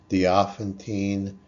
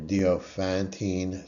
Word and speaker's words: Diophantine: Um, so this is pronounced different ways. I've say it dopontine. I've se I've heard it's pronounced diophantine or diopantine.